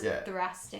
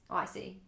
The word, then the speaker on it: thoracic: few times, I'm like, fuck, that's a nice thoracic. Thoracic. So thoracic is just the... Can you spell it? THORACIC. Yeah, it's a beautiful I was thinking word. like THRASIC.